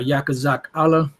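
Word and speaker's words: יחזקאל: and uh yakuzak Allah is how you say Ezekiel in the Hebrew which means Yahoo will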